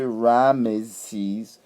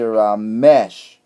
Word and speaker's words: Ramesses: We don't say Ramesses, we say Ramesh. And if you want correlation, look at some of those Hindu names. There are Hindu people that tell you my name Ramesh.